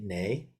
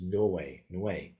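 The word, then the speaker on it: 뇌: This syllable right here is we, and I always just chant it ne. Koreans will often chant it that way, ne too, but it's technically its correct pronunciation is noe, like a W here, noe.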